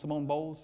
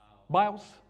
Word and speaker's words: Biles: The black girl, Simone Bowles, or am I saying it right? Biles.